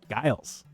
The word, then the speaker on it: Giles: So, Giles, right, with a hard G.